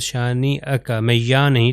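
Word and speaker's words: شانئك: کو پڑھوں گا۔ خلائف، شانئک، شانئک، شانئک، آپ دیکھیے اس کا تلفظ میں حمزہ کر رہا ہوں کیونکہ یہ حمزہ کے اوپر فتحہ ہے یعنی زبر ہے، تو اس کا تلفظ شانئک، میں یا نہیں تلفظ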